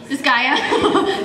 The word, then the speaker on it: Disgaea: Disgaea.